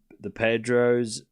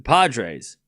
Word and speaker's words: Padres: I love the Pedros. What is it? The Padres. That's how you say it, right?